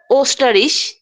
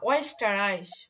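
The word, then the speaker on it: Österreich: তারপরে হচ্ছে ওস্টারিশ, না, ওয়েস্টারাইশ, ওয়েস্টারাইশ।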